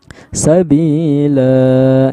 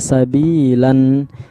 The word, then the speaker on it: sabila: Maka cara kita membacanya sabila, jangan dibaca sabilan.